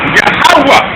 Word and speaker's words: Yahawah: name in ancient Hebrew Y which is yahwah the last H is silent okay his son's name